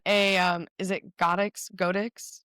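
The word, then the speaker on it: Godox: Godex I think is the right way to pronounce it.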